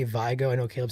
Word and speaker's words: Vigo: So it's Vigo.